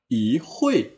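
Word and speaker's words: 一会: Nah, lalu I ini akan berubah menjadi nada kedua ya kalau ketemunya dengan nada keempat itu tadi. Maka dibaca i hui, i fang, i kan.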